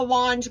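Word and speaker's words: L'ange: While it was wet, I put on the glaze, if you actually want to say it like in a French way, the Lange Gloss.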